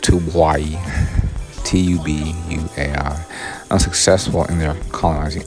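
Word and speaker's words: Tubuai: there's two bodies and invitations hold on it's pronounced to hawaii t-u-b-u-a-i unsuccessful in their colonizing effort the bombing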